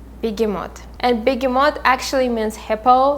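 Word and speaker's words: Behemoth: cat the black cat and his name is bigimot bigimot and bigimot actually means hippo like it's an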